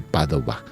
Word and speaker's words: Padova: famoso allí en Padua, que en italiano se dice Padova.